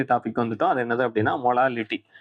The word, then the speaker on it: molal: இந்த ஸ்மால் எம் எப்படி pronounce பண்ணணும் அப்படின்னா மோலால். நல்லா ஞாபகம் வச்சுக்கோங்க. மொலாலிட்டியை வந்து என்னன்னு சொல்லுவோம் அப்படின்னா மோலால் அப்படின்னு சொல்லுவோம்.